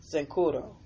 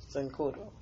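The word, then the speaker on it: Cincoro: Securo, I'll spell it. C-I-N-C-O-R-O. Sincuro. Sincuro.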